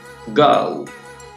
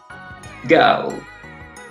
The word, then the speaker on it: go: Primero la vamos a decir con la pronunciación norteamericana: phone, go, bone, only. ¿Sí? Pronunciación británica: phone, go, bone, only.